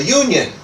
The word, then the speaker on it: union: See that 'a' and it begins with U but really the the Union doesn't really have a vowel sound it has more like that it has like a Y consonant sound.